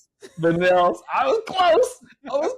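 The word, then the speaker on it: villanelle: Uh Villianos, I've been trying to pronounce that. Vanels.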